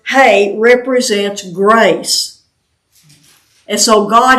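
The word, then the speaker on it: ה: the letter H and it's pronounced hey like h a y hey and I have heard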